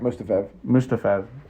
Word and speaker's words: Mustafaev: Like another disclaimer since we're talking about Magomed Mustafov. Isn't that how you say it? Yeah, Mustafaev.